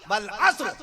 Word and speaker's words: عصر: ایسی عصر کی نماز نہیں, عصر کی نماز پڑھنے جا رہا ہوں, نہیں عصر نہیں. اللہ نے قرآن مجید میں باقاعدہ تلفظ بتا دیا, والعصر, قسم ہے زمانے کی, والعصر, عصر نہیں فرمایا اللہ نے.